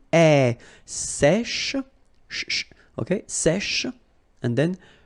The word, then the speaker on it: sèche: Un sèche. So this one is a bit tricky. So remember, we've got this accent grave here, so it's really open. Sèche, okay, sèche, and then cheveux.